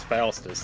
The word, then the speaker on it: Faustus: Yeah, it's Faustus. That's it. That's how you know I can pronounce it correctly.